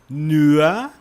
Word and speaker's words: nur: O nur você fala mais ou menos, você não diz nur, né? Apenas. Você não diz nur, você diz mais ou menos assim, ó, nur. Tá? Tem o R ali, é meio que